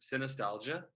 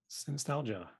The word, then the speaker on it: Synestalgia: Well, it's pronounced Synestalgia. Synestalgia.